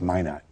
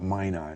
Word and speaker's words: Minot: But that was really It's Minot. Yeah. Mano Mano, North Dakota. That's the French pronunciation. Yeah, we Americans call it Mina here.